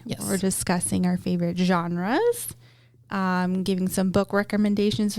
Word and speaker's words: genre: Um, which it looks like it should be pronounced gen like genru or genre. Gener. Yeah, but it's genre.